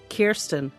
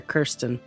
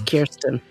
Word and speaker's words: Kirsten: Yes, she was with Kirsten Beyer, who I now know as Kirsten. I've been calling her Kirsten for years, but it's Kirsten.